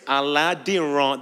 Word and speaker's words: Aladiran: EUR about mostly so my surname is alad that's the way you pronounce it many EUR people would